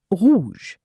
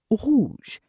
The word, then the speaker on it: rouge: The French R is voiced in the throat, not with the tongue. It feels similar to clearing your throat gently. Example, red. French, rouge. rouge Let's try this together.